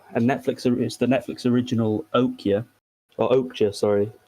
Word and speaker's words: Okja: It's the Netflix original Okja, sorry. I forgot they pronounced the J.